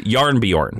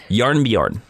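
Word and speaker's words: Jarnbjorn: close you're very close it is yarn Bjorn yarn yarn Bjorn is how you say that is that is the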